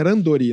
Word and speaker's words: randori: Randori em japonês é randori, né? Na verdade se escreve com R, mas é randori que se fala, né?